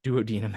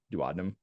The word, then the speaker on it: duodenum: the duodenum or the duodenum technically do any duodenum is the correct pronunciation but I think it sounds weird so I always learned duodenum as I was learning this stuff so we'll